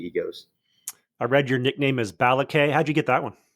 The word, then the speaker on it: Balake: was one that's what people call me so pronounce that again for me balake balake got it okay for for those listening that's